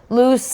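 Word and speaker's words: Luz: She got Logan's attention, but then got very upset when Logan called her loose. Which, you could take that as loose, like just, you're a loose lady, or loose, L-U-Z, that's a name, or loose, short for Lucy.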